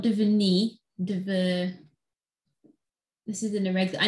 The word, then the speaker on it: devenir: The pronunciation is devenir.